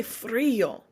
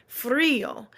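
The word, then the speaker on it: frío: freeze right I say Freo Freo and there's an accent on the I when you see accents on Spanish words that's where you are emphasizing that that pronunciation I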